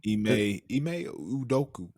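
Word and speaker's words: Ime Udoka: Ime Udoku.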